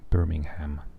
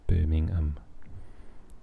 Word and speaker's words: Birmingham: and you do not like birmingham when an american says birmingham they say birmingham so um yeah we say birmingham there's definitely no ham in birmingham and um if i